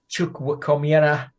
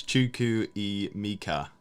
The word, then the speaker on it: Chukwuemeka: FPL Big Head has tried to help you with the pronunciation of Carney. How did you say it? Yeah, I said that. Carney Chukwuemeka. He says it's Chuku I Mika.